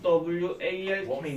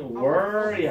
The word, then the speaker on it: walk: 항상 W A L K 는 Word이 아니고 Walk입니다. Walk. Life Walk.